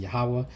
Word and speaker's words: Yahawah: When you translate that in Hebrew, some people pronounce it differently. I pronounce it Yahawah.